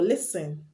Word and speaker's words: listen: write t-e-n and t-l-e the t will be silent for example listen often muscle etc you